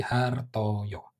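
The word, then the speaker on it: Hartojo: Sementara kalau C aja itu dibacanya Y ya. Sehingga ini Andang Jaya. Kalau yang depan ini berarti Hartoyo.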